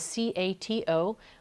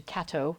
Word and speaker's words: Cato: names so she is c-a-t-o which the Dutch pronounce Cato um as opposed to Kato as I was pronouncing it for a little while because she's a cat